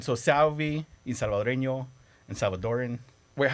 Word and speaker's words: Salvadoran: So Salvadoran. The most popular term is Salvadorian, R-I-A-N, or R-E-A-N. Okay. So most people will say it Salvadorian, yeah. but it's spelled Salvadoran.